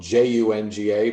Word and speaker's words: Junga: It's spelled J-U-N-G-A, but the J is like a Y, so it's Junga.